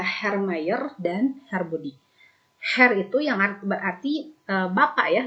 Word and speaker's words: Herr: Herr itu yang berarti bapak ya, dibacanya Herr, bukan Herr, tapi Herr.